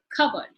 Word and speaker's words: cupboard: If you notice in the transcription, the p sound is missing. This is something that you need to make note of when the sound is deleted off the word. So P is silent, cupboard.